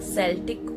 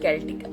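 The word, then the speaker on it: Celtic: यह है सेल्टिक और कैल्टिक। आप कुछ भी प्रोनाउंस करिए।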